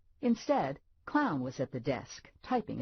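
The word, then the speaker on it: Klougahn: I've been hearing that it's spelled k l o u g a h n clown could be worse Lula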